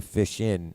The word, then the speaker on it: fishin': Like, what is with the fish in instead of fishing?" And FISHIN or FISHING. And my thing is, two reasons: it doesn't rhyme with musician. It's fishin', musician.